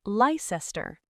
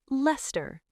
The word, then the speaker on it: Leicester: This is a very famous area in central London, but it is not Leicester. It is Leicester, just 2 syllables, Leicester Square.